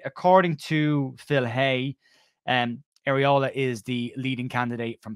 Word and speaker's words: Iraola: to discuss um are and only as it's pronounced areola and only areola um who is currently the manager and head